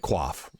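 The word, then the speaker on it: coif: stuff like this padded quaf or CIF if you would prefer to pronounce that way um this is only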